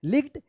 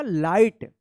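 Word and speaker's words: light: लिग्ड या लिघट मत पढ़िएगा। ठीक है? क्या होगा? लाइट।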